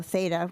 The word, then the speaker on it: Theta: Another little interesting um part of this memo, the Rico Theta, which is kind of interesting that it's called a Rico Theta actually pronounced theta probably 360 camera will